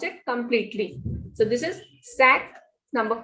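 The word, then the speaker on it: cinq: For examples, SINQ, sack. Number 5, you will pronounce it completely. So this is sack.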